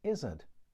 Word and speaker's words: Izzard: Mummy, later Mum, Muv, and finally Mama, was born in Northampton, Joan Kathleen Izzard. And yes, her family did pronounce their surname that way.